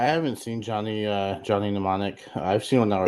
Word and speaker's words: Mnemonic: seen johnny uh johnny mnemonic i've seen that it's johnny is johnny mnemonics m is silent okay well why is